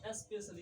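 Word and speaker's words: special: जैसे एस पी ई सी आई ए एल आया ना, आई ए एल, तो स्पेशल ये है ना आई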